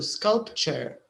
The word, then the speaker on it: sculpture: But the pronunciation here, the URE, remember like future or culture. So sculpture.